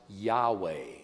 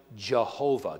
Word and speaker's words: Yahweh: when you see that it is the word we would pronounce Yahweh we would pronounce it Jehovah God says I am